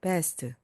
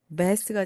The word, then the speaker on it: vest: best, 바로 최고, vest가 됩니다. 그래서 V로 발음해 주세요.